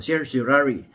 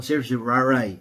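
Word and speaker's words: certiorari: minsan sinasabi nung araw sir jari pero pag narinig mo si si Miriam Santiago which is also a professor of law sasabihin niya mali ang pronunciation niyo hindi yan sir jari no sir jaray ang tawag yan So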